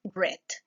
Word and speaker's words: read: en el pasado pero su pronunciación se modifica pasa de read a pronunciarse red en la quinta oración